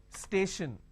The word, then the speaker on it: station: h is missing but every word that ends with t i o n is not sure sound for example let me add an example here so that you can understand so every theory that i'm going to talk about i'm going to give you an example for example station now when i have station i have stay shin the t i o n basically i can say s h i o n station right so t i